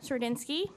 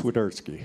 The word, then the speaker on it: Swiderski: winning Crew Chief cinski I don't think I pronounced that perfectly but okay go ahead and say your last name though so they know exactly how it's pronounced swerski thank you swerski we'll